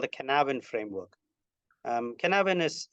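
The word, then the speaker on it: Cynefin: he's Welsh and his framework is called the canavan framework um canavan is C pronounced and spelled Cy NE f i n so pronounce it how you like but he likes to call it canavan and essentially it's a framework for looking at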